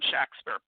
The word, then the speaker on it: Shakespeare: spur so pretty much his name was William SHAKSPER based on was a